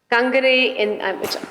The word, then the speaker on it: Kangani: Kangni, which I have been told is the correct pronunciation, stands for overseer.